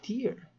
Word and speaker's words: tier: why did I keep why do I keep saying Tire man it's tear tear it rhymes with beer man